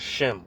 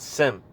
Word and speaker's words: Shem: we're not, you know, they pronounce it wrong. The word is Shem. All right, we come from Shem, not Sim.